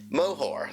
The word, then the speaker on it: Moher: Moher.